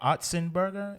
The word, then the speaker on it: Otzenberger: i pronounce this wrong the o is actually for otzenberger am i right it's absolutely right all right all right